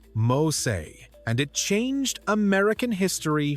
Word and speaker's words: Mose: Today we call it Fort Mosse, pronounced Mosay, and it changed American history forever.